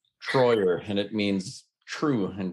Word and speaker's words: Treuer: do it correctly sure my last name is spelled t-r-e-u-e-r so i got the native guy with the german name troyer and it means true